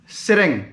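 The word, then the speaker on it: Tsering: उसका नाम जेंडन सेरेंग, सेरेंग मतलब टी SERING, टी साइलेंट रहता है।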